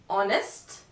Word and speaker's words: honest: letter G in general the letter H is mute at the beginning of a word for example our honest but of course there